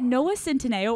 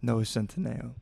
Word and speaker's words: Centineo: actually a controversial topic is it Noah Cento or Noah centeno Noah centeno I have always said it right but to all of our on Instagram saying Noah Centennial it's no today cut